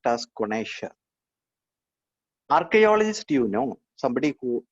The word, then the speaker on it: connoisseur: It is pronounced as connoisseur.